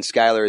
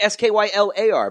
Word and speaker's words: Skyler: Skyler is Skyler. It's not AR. Who spells Skyler wrong? They always say Skylar, but it's Skyler.